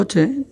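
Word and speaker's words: حاء: পরে যেটা পড়েছিলাম হা গলার ভিতর থেকে এটা হবে হা অর্থাৎ মনে হবে যেন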